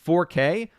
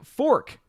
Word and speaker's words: 4K: jacqueline suave says wait it's pronounced 4k all this time i've been saying fork face palm part of